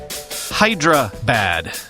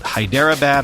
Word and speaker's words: Hyderabad: forgive me also yes it's Hydra bad not Hyderabad or whatever it is that I said I even phonetically spelled